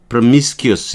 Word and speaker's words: promiscuous: 건데요 아 여기 좀 뜻밖의 단어가 있죠 미스키스 프로미스키스 여기 강세가 있고요 여기는음니까 발음 안 해도 괜찮니다 프스 이렇게 되는 거예요음